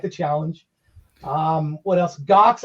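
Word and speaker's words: Ghox: challenge um what else gox i've been playing the you know jar that's how you say it g-h-o-x another one of those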